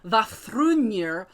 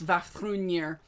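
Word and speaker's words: Vafþrúðnir: flex because I said Vafthrûdnir correct on my first time. And yes, I know with Norse names, there are so many different ways to pronounce them. So I went with the Norwegian pronunciation.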